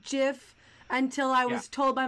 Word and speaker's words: GIF: there's a button and I'm pronouncing this jiff intentionally deal with it there's a jiff